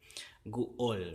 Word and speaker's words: guol: Guol, and it has to keep that glottal consonant, because there's a glottal stop in between these 2 vowels here. Guol, right? Guol, there's a stop.